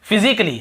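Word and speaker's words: physically: और देखिए फिजिकली, हम क्या पढ़ते हैं? फिजिकली। ये देखिए फिजिकली, तो यहां पर भी ए का उच्चारण नहीं हो रहा है।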